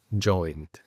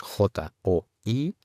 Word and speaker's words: joined: En esta página podemos focalizarnos en la palabra joint. Joint. Es importante ver que esta palabra parece tener 2 sílabas cuando la leemos, porque tenemos J-O-I-N-E-D. Entonces muchas personas tendremos la tendencia a decir joined o joined.